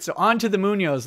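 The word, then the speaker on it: Muñoz: And Kevin Flesher says it's pronounced Munoz.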